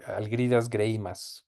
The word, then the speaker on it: Algirdas Greimas: Bueno, fue el contacto con un pensador también muy importante para el mundo de la semiótica que es Greimas, o Algirdas Greimas, como se pronunciaría en español.